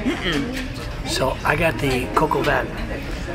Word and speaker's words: coq au vin: So I got the coq au vin. which I can remember how to say the name because of the song Coco Cabana. Coco Cabana, but you got Coco Cabana. No, Coco Van.